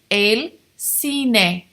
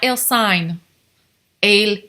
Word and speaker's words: el cine: so repeat after me al cine think of the cinema el cine not ill sign a cna la playa la